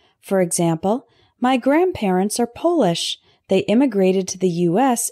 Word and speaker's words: Polish: different perspectives moderate moderate next we have polish and Polish Polish means to make shiny